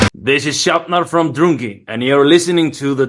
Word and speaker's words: Drungi: world it's beautiful beautiful place now your name druni what's the meaning and did I say it